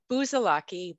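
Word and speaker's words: Busalacchi: So it's Buzalaki, booze under lock and key.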